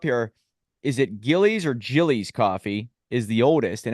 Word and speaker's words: Gillies: are right up there somewhere in there yeah Gillies is just how you pronounce it and that's in New York and